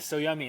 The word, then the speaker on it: So Yummy: had to pronounce it so yummy is that how you pronounce the one restaurant so yummy it's pronounced the way that our food tastes yeah it's awesome uh